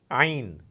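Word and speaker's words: عين: Ain, ain, a very special sound, ain.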